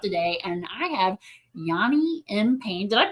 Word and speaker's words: Yani M Payne: And I have Yanni M. Pain. Did I pronounce that correctly?